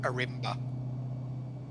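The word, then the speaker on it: Ourimbah: But it did say Arimba is how it's spelled. It's just station. pronounced Arimba. I know, I used to live there.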